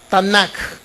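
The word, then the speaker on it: Tanakh: tamacá en a joh tanak y de esa manera se pronuncia es una palabra que se compone de tres sílabas de cuántos libros se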